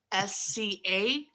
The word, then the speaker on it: POSCA: It's POSCA, Posca, I think, Okay.